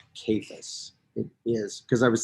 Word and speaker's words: Cephas: and it is pronounced capus it is because i was thinking because there's not a c sound for a kappa i literally have never